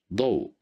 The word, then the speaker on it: ضوء: Here we have the letter dot at the beginning of the word, and here we have fatha at the top of the letter dot. So we will pronounce it as ضا, ضوء, which means light.